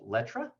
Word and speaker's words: Letra: He also has a handbag business called Letra.